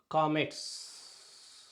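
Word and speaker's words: קָמַץ: இந்த டி போன்ற ஒரு குறியீடு, இதற்கு பெயர் காமெட்ஸ். என்று பெயர். இதற்கு உச்சரிப்பு ஆ ஆ என்று ஒரு நெடில் போல உச்சரிக்கணும்.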